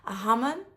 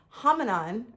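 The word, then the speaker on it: hammam: A hammon. Hammon. It's a Moroccan spa. A hammon. I want to call it hamon or like hominasa like a yoga pose but it's not.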